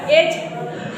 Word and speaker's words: edge: Wrong होगी आपकी, क्या होगी, रॉन्ग होगी, क्या स्पेलिंग्स होगी, BRIDGE, ओके, आया समझ में, ब्रिज हो गया, एज हो गया, एज, ADGE, एज, है ना, इसको एज पढ़ेंगे, हेज, HEDGE, हेज, वेज, WAEDGE, वेज, है ना बेटा।